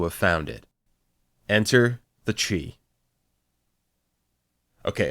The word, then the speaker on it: Chee: Enter the Chee. Okay, apparently it's pronounced Che?